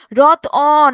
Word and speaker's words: রতন: এই উচ্চারণ করেন তো, রত অন, এখানে একটা অধ্বনি আসছে না?